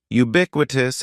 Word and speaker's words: ubiquitous: first word is ubiquitous ubiquitous has four syllables the first syllable is just like you're saying the letter U ubiquitous and the stress is going to be on that second syllable ubiquitous ubiquitous means existing